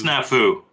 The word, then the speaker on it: Snafu: I'm glad Casey talked about it because I needed to hear him pronounce this. You say Snafu? Snafu. It's Snafu.